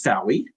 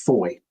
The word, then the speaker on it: Fowey: I would pronounce this Fowie. It's pronounced Foy.